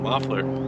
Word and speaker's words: Muffler: what's your last name muffler this is just muffler yeah nobody knows how to say it right muffler muffler go with muffler muffler so we're